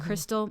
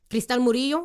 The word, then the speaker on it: Crystal: me it is like i specifically say my name in english and spanish like crystal like the the